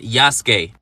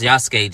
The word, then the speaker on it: Yasuke: for This game is not yaske Yes I was saying it wrong it's yasuke just like sasuk you got me The